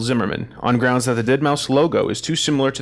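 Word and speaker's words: deadmau5: So, our next news story, Dead Mouse, spelled with a five, or DeadM 5, as Drew and I say, Dead Mouse responds to Disney trademark suit, says company stole his music.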